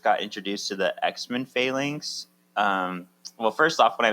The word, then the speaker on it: Phalanx: introduced to the X-Men Phalanx. Well, first off, when I was young, I used to call them the Phalanx, which I added a few syllables there.